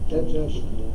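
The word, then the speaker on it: دجاجة: Dajjajatun. So there's a shadda on the first jim.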